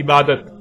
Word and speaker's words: عبادت: عربی کا لفظ عبادہ جب اردو میں شامل ہوا تو اسے عربی کی بجائے اردو لہجے میں تے کے ساتھ بولا گیا اور بولا جاتا ہے، یعنی عبادت.